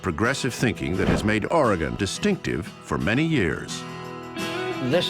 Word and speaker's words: Oregon: I have to say is not pronounced origon it didn't go anywhere there is not any on the end of it it's Oregon a former governor of